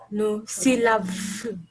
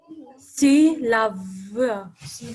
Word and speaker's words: C'est la vie: Remember the final E, are you supposed to pronounce it? No, c'est la vie. Stella? You are not supposed to pronounce it. How are you supposed to read that word? C'est la vie. C'est la vie. V, I is E. So we say V.